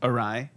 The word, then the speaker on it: awry: figure this out what are we even talking our eew ry right it's it it's pronounced awry but Scottish father over here oh I thought